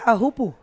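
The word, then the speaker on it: Teahupoʻo: to help me that pronunciation aopo that's how they say it well on the Olympics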